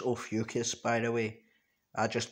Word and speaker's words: Ophiuchus: It's pronounced Ophiuchus, by the way.